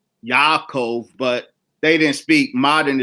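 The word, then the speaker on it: יעקב: yaku now of course it's written in English as Jacob but none of them spoke English in modern Hebrew it is Yakov but they didn't speak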